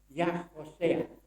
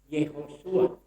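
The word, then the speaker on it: Yehoshua: Jadi kalau kita melihat sebenarnya apa namanya, kalau ditambah yod di muka huruf Hosea, maka kita akan membacanya menjadi Yahosea. Tetapi yang menjadi banyak terjadi orang menyebut sebagai Yehosua. Nah, ini sebenarnya yang perlu kita luruskan.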